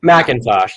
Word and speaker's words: McIntosh: How would you pronounce it? McIntosh? McIntosh. Just the A is not there, yeah.